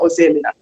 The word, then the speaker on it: Ozoemena: That's the Nigerian way of pronouncing it. Dr. Ozoemena.